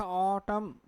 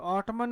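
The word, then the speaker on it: autumn: क्या लिखा, ऑटम। तो ऑटमन नहीं है, ऑटम, जिसमें क्या है भी आपका ना साइलेंट है इसमें।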